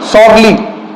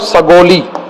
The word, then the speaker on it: सगौली: Sign हुआ, treaty of सॉर्ली। ठीक है, ट्रीटी ऑफ सगौली साइन हुआ। ट्रीटी ऑफ सगौली, सॉरी इसका स्पेलिंग थोड़ा चेंज कर दीजिए, रुकिए, इसको बोलते हैं ट्रीटी ऑफ सगौली।